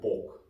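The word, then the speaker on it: 복: Actually, the Chinese word for bat and the Chinese word for blessing is pronounced the same. Fu. This would be the Korean pok.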